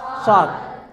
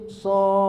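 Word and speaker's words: صٓ: Jadi bacanya shad gitu. Jangan shad. Ada yang baca begitu, shad. Nah. Ya kan? Itu salah.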